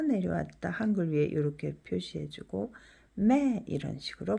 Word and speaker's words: แม่: 그래서 이성은 올라갔다 내려왔다 한글 위에 이렇게 표시해주고 매 이런 식으로 발음하죠.